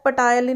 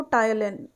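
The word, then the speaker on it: ptyalin: यहाँ पे P silent होता है, पटायलिन नहीं बोलना इसको, टायलिन होता है ये।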